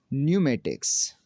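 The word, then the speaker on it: pneumatics: Saam, न्यूमेटिक्स, psychology.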